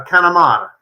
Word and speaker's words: Connemara: Is it Connemara or Connemara? Think about it like this, and this will go with the Italian theme. You say it's like a Canamarinar, a Connemara.